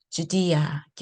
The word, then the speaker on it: Judea: 사용합니다 to 리 리 주디아 리 이렇게 고유 명사 발음 알아두세요 그러면 우리 암송하도록 하겠습니다